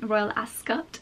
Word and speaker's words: Royal Ascot: And because Royal Ascot is, Royal Ascot, the correct pronunciation, is mostly outside, it's not really the kind of place where you go with a really full face of makeup.